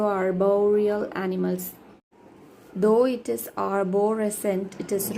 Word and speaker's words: arborescent: Though it is arborescent, it is wrong. My pronunciation, if I will read arborescent, but it is arbor. Arborescent, arborescent, and R is silent, arborescent in British, which means resembling a tree in growth or appearance.